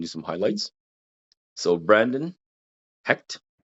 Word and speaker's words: Hecht: some highlights so Brandon hecked hecked I'm saying it right this time right hecked I I'm I'm not saying C HEC right yeah he like Hector but hect you got it right all